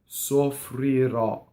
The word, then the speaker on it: soffrirò: So it ends on a strong accent, so it's an open O. Soffrirɔ.